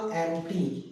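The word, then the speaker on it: empty: इस वर्ड को मैं बोलूंगा एम्प्टी। प नहीं बोलना है, एम्प्टी बोलना है।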